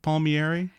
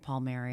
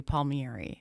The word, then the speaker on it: Palmieri: to the podcast so it's Palmieri it's not Palmieri that I it is my family pronounces it Palmieri okay the correct the Italian way would be Palmieri okay meet me airy it's kind of a